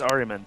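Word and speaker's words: Ahriman: It's Ariman.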